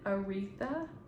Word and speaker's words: Aretha: um let me just say her name again artha Franklin is how you say it so um